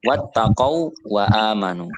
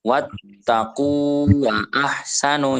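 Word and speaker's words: وَاتَّقَوا وَأَحْسَنُوا: A atau au banya wattaq waanu bacanya ya wattaq waanu wattaq Wa ahsanu Nah bukan wattaqu wa ahsanu itu malah salah kalau watqu Berarti enggak ada apa enggak ada madinya terus kemudian contohnya lagi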